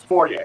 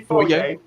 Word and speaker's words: foyer: criticize it like how you criticize how we pronounce fiery okay which yes should be foyer but foyer stiller it's a foyer